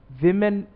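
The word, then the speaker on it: women: जैसे मैन का मैन कर दिया तो वुमन का हमने वुमेन कर दिया, लेकिन हम पढ़ते इसको किस तरह है, विमेन, विमेन। प्रोनाउंसिएशन इसकी इस तरह से होगी।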